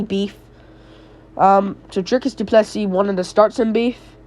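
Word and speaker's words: Du Plessis: tildrick is duplessy Neil I call him duplessy because that's correctly that's how you correct you really say his name duplessy I don't know why he has an extra s there but trick is duplessy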